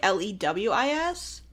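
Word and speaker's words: Louis: yeah no no but it's spelled like l-o-u-i-s instead of like l-e-w-i-s but it is Lewis that's fair okay Brennan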